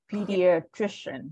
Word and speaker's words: pediatrician: so um let's get the first one to pronounce this word um all right so number one pediatrician right so PD pediatrician so the stress is on here yes all